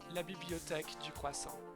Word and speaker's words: La Bibliothèque du Croissant: You'd say La Bibliothèque du Croissant.